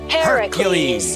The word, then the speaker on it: Heracles: But Heracles is how it's pronounced in the original Greek.